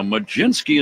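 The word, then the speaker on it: Mlodzinski: His name is Carmen Majinski. First pitch strike. Here comes the 0-1 to Talkman. And it's a called strike two. Now, Majinski is the way it is pronounced.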